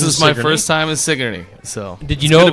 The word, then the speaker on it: Sigourney: first time this is my first time in sigy so did you know it was pronounced sigy Sig I did all right you weren't going